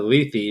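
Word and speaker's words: Lethe: hate I believe it I believe it's pronounced but I digress well maybe because I actually looked up the pronunciation and I played it and it said leafy but sure uh you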